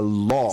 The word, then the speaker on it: law: A law. Se escribe lau con W, pero Yeah. se pronuncia law. Law. Con una O larga.